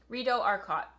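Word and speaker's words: Rideau Arcott: It's French. So it's Rito Archot.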